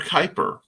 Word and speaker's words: Kuiper: yeah the amazing Mr Kuiper rhymes with hyper is in the process